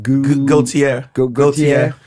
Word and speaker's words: Gaethje: Gaethje.